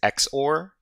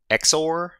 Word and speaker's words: XOR: I heard that the official pronunciation of this word right here is X or exor but uh zor sounds cooler so I'm just going to go with zor if somebody really Minds let